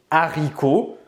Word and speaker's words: haricots: cela il faut puisque dans le mot haricots le h6 les aspirer donc la bonne prononciation est bien c'est de dire les haricots au passage ici on ne va pas dire larry cohen l'élision n'est pas possible pareil pour le mot